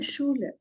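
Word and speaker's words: Schule: So we'll start now for my school it is called as minor shul minor sha is school s c h u l e shou is school and minor it changes with the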